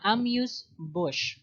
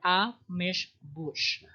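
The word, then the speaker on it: amuse-bouche: have also we have the ambush uh amuse bush or a mish bush that is how we able to pronounce this it's actually a tiny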